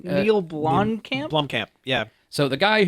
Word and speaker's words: Neil Blomkamp: Neil Blomkamp.